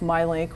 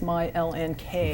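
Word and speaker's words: MyLNK: which I understand was originally supposed to be pronounced my L and K right right so it's a it's called my link and the Ln K is from the airport code but we really thought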